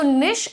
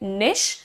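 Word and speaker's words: niche: जो लिखा हुआ है लोग ऐसा कहते हैं कि ब्रिटिश इंग्लिश में इसको निच बोलते हैं व्हिच I don't completely agree with मैंने नहीं सुना है इवन ब्रिटिशर्स को इसे निच बोलते हुए एंड मेरा प्रेफर्ड प्रोनंसिएशन है निश निश लाइक वी से fish similarly you कैन से निश एंड यू can also call it नीश like with a double Lee sound so दैट्ची सबको आप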